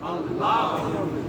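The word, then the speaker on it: الله: লামে আল্লাহর ডাইনে জবর লামে আল্লাহ মোটা লামে লামে আল্লাহর ডাইনে এই যে আকারটা দিলাম আকার দিলে আল্লাহু হবে কি হবে আল্লাহ আর এটা আছে আল্লাহ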